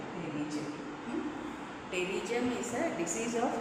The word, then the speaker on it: Pterygium: Pterygium. P is silent. Pterygium.